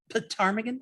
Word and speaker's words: ptarmigan: Ptarmigan starts with a P.